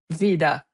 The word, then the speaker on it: Wyda: And just to be clear the company is pronounced VIA. Vida. Yes. Vida.